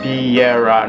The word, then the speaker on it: Biera: As to my channel, the way it's written is the way it's pronounced. Biera, not Byra, not anything.